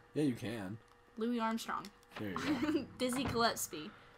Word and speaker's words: Gillespie: you can louis armstrong dizzy gillespie did i say it right that's not right dizzy gillespie gillespie there you go oh it's super locked